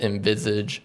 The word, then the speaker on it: Envisage: Neil and Adam, introduce the dad first, with Envisage Wealth Advisors. I did pronounce that right.